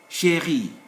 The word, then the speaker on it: Chérie: Chérie, there is an accent, that's why I pronounce it. There is accent aigu.